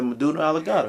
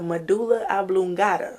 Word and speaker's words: medulla oblongata: The Meduna Alligata. You don't know how to pronounce nothing. The clavicula. What? Huh? It's called the Meduna Alligata. It's the medulla oblongata.